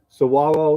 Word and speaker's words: Saguaro: We were perfectly comfortable, perfectly safe, perfectly level, and here we are and I know how to say it now, Saguaro National Park.